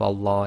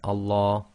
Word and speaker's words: Allah: a dhamma, and then we pronounce the Lam of Allah as tafkhim, which it gives you the sound La.